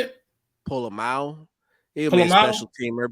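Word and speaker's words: Pola-Mao: isaiah polo polo that's how you say it pull a mao he'll be a special teamer but yeah and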